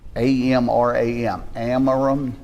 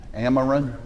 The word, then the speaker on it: Amram: And I can't pronounce his name very good. It's A-M-R-A-M. Amram.